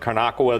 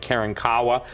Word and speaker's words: Karankawa: And what's important that people understand is this, is that even in Texas, some people pronounce it Karnakawa, the other people pronounce it Karankawa, but the appetite of